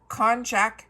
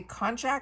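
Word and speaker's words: konjac: We have from bathroom conjac walnut shelled exfoliating body sponge.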